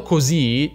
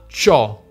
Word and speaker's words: c'ho: Ovviamente però non leggiamo co, ma ciò.